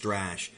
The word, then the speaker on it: Strash: is his sort of, and yes, it is pronounced Strash, which is his signature move, but it takes time to learn that one, obviously, from this guy.